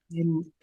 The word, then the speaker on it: Enheduanna: ENHEDUANNA. Well, it's pronounced just Enheduanna.